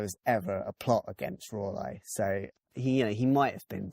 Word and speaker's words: Raleigh: Walter Raleigh. No, it's not how you pronounce it. It's Raleigh, I think is how they pronounce it. Wait, it's R-A and then yeah, Lee.